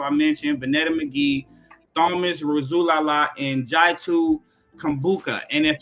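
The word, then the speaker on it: Rasulala: Razulala. Razulala.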